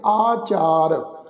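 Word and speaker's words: ਆਚਾਰ: तो इस शब्द का उच्चारण करांगे आचार, ठीक है जी।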